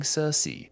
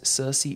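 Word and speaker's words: Circe: about her that being cersei different spelling but same pronunciation in fact wikipedia informs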